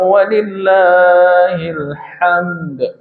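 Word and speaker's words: ولله الحمد: Dan ada qalqalahnya walillahil hamd. Itu. Kalau tidak begitu nanti salah bacanya.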